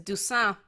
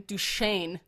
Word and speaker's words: Dusan: his last name is Dusan, but they keep calling him Duchesne or Dushan. They keep saying douche instead of deuce. There is no CH. His name is spelled D-U-S-A-N, and they never call